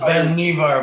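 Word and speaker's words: Vannevar: this is um the life magazine um article by vanderbar bush that it's pronounced ben nevar by the way okay yeah and i think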